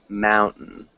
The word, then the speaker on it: mountain: time yeah it's okay so when we swallow a t it's almost like we don't say it so mount mount in mountain mountain and that just might be yeah it's it's almost silent it's on almost silent tea it's a really difficult